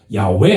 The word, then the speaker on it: 야훼: 그게 여호와 그랬는데 사실은 여호와가 아니고 야훼잖아요. 야훼 하나님.